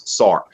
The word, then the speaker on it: Sartre: So Fred, so you've got Nietzsche and Sartre, which you know, Sartre be, you know, pronounced a few different ways, but the most common English pronunciation is Sartre.